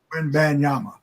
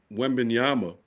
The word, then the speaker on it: Wembanyama: So, I keep mispronouncing Wembanyama. Wembanyama.